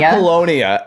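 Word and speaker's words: Apollonia: um with uh Apoll how do you say I'm sorry I keep getting it every single time Appalonia Appalonia uh Appalonia she doesn't have a lot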